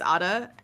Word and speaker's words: Ada: Which, by the way, me sir, my name is Ada and everybody mispronounces my name as Ida sometimes.